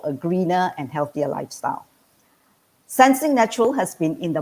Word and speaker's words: Sensenique: called sensing is actually made out of two words one senses number two unique so it is pronounced as sensing now before i go